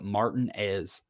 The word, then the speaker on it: Martinez: Louisville Georgia that's weird there's also a place in Georgia it's spelled Martinez but they call it Martin as isn't that weird like